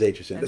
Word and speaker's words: Aitchison: So okay, proper pronunciation of your last name. It is Aitchison.